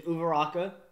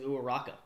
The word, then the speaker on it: Uraraka: Uraraka versus Bakugo versus Uraraka. Wait, Uraraka? Uraraka. Oh, that's such a bummer. I thought it was Uraraka. It literally makes no difference. We pretty much pronounce it the same, just without a V.